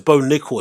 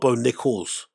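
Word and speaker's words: Bo Nickal: Oh, so it's bone nickel. It's not bone nickels.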